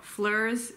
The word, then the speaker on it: fleurs: Fleurs is the noun, it gets pluralized to fleurs, except the S is silent, at least in modern French, maybe not.